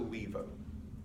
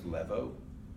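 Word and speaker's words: laevo: It's in a bunch of different words, and it's pronounced as an E.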